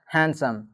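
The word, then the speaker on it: handsome: और उसके बाद बहुत सारे प्रोनाउंसिएशन प्रॉब्लम, जैसे कि इंग्लिश में लिखा जाता है HANDSOM हैंडसम, लेकिन उसको पढ़ा जाता है हैंडसम, हैंडसम डी साइलेंट।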